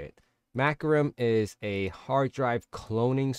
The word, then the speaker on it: Macrium: do all this is called maum yeah that's how you say it maum is a hard drive